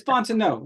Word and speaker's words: Fontenot: It's Fontenot. The T is silent.